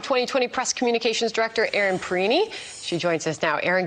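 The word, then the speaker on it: Perrine: way that it's spelled, I originally thought it was Erin Perrin. I don't know. That's kind of an interesting tidbit there, like Erin Perrin. Oh, no, Perini.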